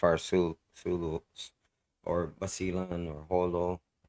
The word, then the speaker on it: Jolo: Sulu or basilan or Holo H or Jolo as some of you may pronounce it um those islands are